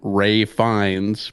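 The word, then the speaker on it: Ralph Fiennes: there yeah i mean i have no problem calling him ray fines but come on it's spelled make it a little easier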